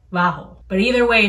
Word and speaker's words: vaho: with a v like vaho but either way it's pronounced there's this like really tricky thing for spanish speakers between v's and b's like like it's vaca